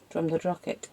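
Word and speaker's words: Drumnadrochit: No, I mean I was hoping we could get rid of the waste at um Drum na Drochit. Is that how you pronounce it?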